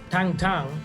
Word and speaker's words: Tintin: So Tintin, or Tang Tang, as it's pronounced in French or the Belgian language, was written by a guy called Herge or Hergé.